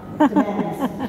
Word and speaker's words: Demens: But if you've ever been to Demon's Landing in St. Petersburg, they're pronounced it wrong. Demens, Peter Demens.